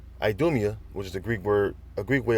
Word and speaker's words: Idumea: Behold, it shall come down upon Idumea." Idumea, which is a Greek way of saying Edom. All right, that's how you say it in the Greek, Idumea or Idumea.